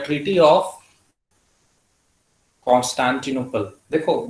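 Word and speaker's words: Constantinople: इसकी प्रोनाउंसिएशन बता दीजिए एक बार। कॉन्स्टेंटिनोपल।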